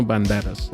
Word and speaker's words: Banderas: Banderas Banderas yes let's say it correctly Antonio Banderas right that's the most Antonio Banderas and Antonio